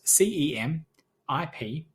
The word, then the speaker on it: cemiplimab: So it's spelled CEMIPLIMAB, cemiplimab.